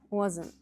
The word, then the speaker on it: wasn't: It almost ends in an N sound.